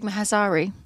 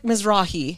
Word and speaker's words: Mizrahi: Isaac Mazrahi. Isaac Mizrahi. Mizrahi.